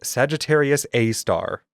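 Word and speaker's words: Sagittarius A*: our galaxy is named Sagittarius A star and yes you do pronounce the asterisk as star. I don't remember why that is per se, but Sagittarius A star is estimated to be approximately 4 million solar masses.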